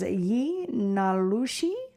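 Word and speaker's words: yee naaldlooshii: Yeah, I'm going to try, but it's pronounced as ye nalushi and that means with it he goes on all fours.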